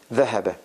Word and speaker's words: ذهب: ذهب. ذهب. ذهب. الظهر. ذهب. You see, ذهب. A little bit tongue out.